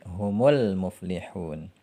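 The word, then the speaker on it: هُمُ الْمُفْلِحُون: Hum ketemu al-muflihun. Kalau mau dibaca bersambung menjadi humul muflihun.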